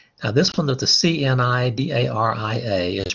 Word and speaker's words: Cnidaria: Now this one with the CNIDARIA is pronounced Cnidaria. The C is silent.